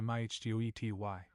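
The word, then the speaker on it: mitote: Your whole mind is a fog which the Toltecs called a mitot, pronounced mihtoi.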